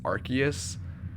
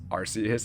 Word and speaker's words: Arceus: Okay, side note, I think in English they've decided that the English pronunciation is Arceus, but in Japanese it's Arceus, it's Arceus, so that's what I'm going to be saying.